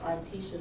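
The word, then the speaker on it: Artesha: Uh, my name is Articia. That is spelled A R T E S H A.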